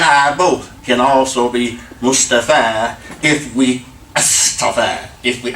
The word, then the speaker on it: Mustafa: in the call it they call themself Mustafa there's not Mustafa its Mustafa I'm just a fan